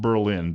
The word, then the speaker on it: Berlin: Maryland it's actually pronounced Berlin because it was named after a guy named Burl who opens an in